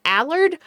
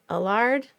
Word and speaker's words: Allard: If you want to go super French, it's DanielleAllard, but most people just say DanielleAllard.